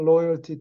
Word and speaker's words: loyalty: Their unswerving loyalty to the kingdom.